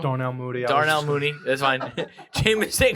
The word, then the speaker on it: Darnell Mooney: LaVisca, Randall Cobb, Devontae Parker, Darrell Mooney, Jamison Crowder. Did I say his name wrong? Darnell Mooney.